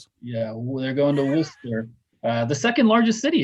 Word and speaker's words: Worcester: W O R C E S T E R and it's somehow two syllables. Yeah, they're going to Worster uh the second largest city in Massachusetts and